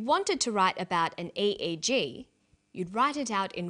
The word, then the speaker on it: EEG: or an acronym an EEG brain scan helps answer that say the swinburne researchers he says an EEG that's an abbreviation we don't pronounce it egg we say e e g e EEG stands for